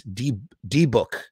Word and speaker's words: Dybbuk: All right, so Toxic Swamp actually says the rabbi in the original film from 1907 pronounced it as Debuk.